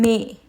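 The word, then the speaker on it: mais: But when there is come may without accent, and also here I'm not pronouncing asset and here I'm pronouncing maze.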